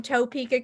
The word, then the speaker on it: Topeka: she thinks it's cute all the way from topeka kansas it's the very funny jay patterson oh